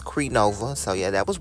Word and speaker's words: Crenova: plastic on the course yeah and I did pronounce it right it's cre Nova so yeah that was right comment down below